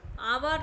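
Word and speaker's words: hour: पर अगर आप देखोगे इ नॉट प्रोनाउंसड येय मतलब यहां क्या है वो साइलेंट है एच यहां पर क्या काम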